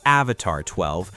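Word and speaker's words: Avatr 12: Coming in at number four is the Avatar 12. And yes, it's pronounced Avatar 12, but the name isn't the controversial part.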